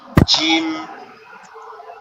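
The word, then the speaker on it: جيم: জিহ্বার জিহ্বার মধ্যখানটা উপরের তালুর সঙ্গে লাগবে, অর্থাৎ আমাদের এটা হচ্ছে আমাদের জিহ্বা, এটা হচ্ছে আমাদের গালের তালু, এটার এই জায়গাটা উপরের তালুর সঙ্গে লাগবে। উপরের তালুর সঙ্গে লেগে একটু শক্ত আওয়াজে উচ্চারিত হবে, জিম জিম জিম, এরকম ভাবে, ঠিক আছে?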